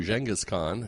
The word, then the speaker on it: Genghis Khan: and and you know before you're pronouncing it jenas Khan which is uh new for me so I'm going to try and play along with that too jenas Khan which would be the correct uh pronunciation um his his birth